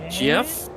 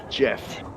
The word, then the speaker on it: Geoff: jeff now he had my name's jeff yeah with a g but it's spelled geoff but i think he pronounced jeff some mountains and that